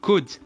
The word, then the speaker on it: could: لا ننطق L. نقول could.